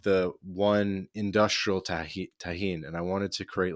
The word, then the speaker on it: Tajín: but there's something called Tajín in Mexico. Tajín. Do you know what this Hmm. is? It's I like don't. How do you it's spell it? like it's like Tahin.